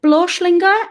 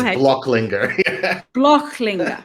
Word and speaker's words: Blocklinger: that we've gotten already is it bloshlinger i apologize profusely if that is a terrible pronunciation of your surname but i'm gonna try it again i think it's blocklinger there you go i